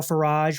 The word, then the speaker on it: Farage: It's Farage, rhymes with garage, kind of like Marriott rhymes with chariot.